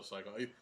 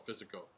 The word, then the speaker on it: Psycho: I don't think I saw Psycho. When I was a kid, I used to call it Physico because I was a dumb kid. Well, you probably never heard the word pronounced before.